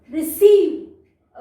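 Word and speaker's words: receive: यहाँ पे भी री री सी, स, ये स की साउंड देगा और ये आई ई हमें लॉन्ग ई का साउंड देंगे, व, लास्ट में ई हमारा साइलेंट होता है। तो र री सॉरी री सी रिसीव। ओके, री सी व रिसीव।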